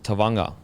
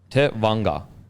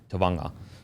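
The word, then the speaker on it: Tevaga: So Tavanga. So Te dash Vung VUN dash R Tavanga. So Jazz Tavanga.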